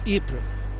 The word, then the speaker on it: Ypres: The city of Ypres, or Ypres as it is locally pronounced in Flemish, was the scene of battle for the entire length of the Great War.